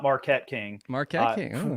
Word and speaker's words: Marquette: I was once told by the former punter, I don't think he's in the league right now, Marquette King is actually how you say his name, not Marquette King.